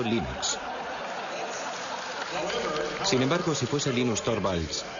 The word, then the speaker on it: Linux: eso se pronuncia Linux Bueno yo Linux lo pronuncio Linux sin embargo si fese Lin no hayuda de